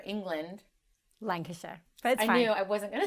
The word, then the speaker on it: Lancashire: mind for business after leaving her hometown in lanc shire england lancashire i knew i wasn't going to say it